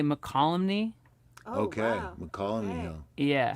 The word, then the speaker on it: Mokelumne: 20th that sounds right mokelumney hill we're meeting up is that how you say that i think they say mccollumny okay we're calling you